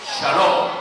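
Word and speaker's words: שלום: Shalom, que significa la paz.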